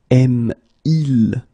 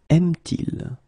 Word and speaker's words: aime-t-il: Il aime. Aime-il? Will become aime-t-il.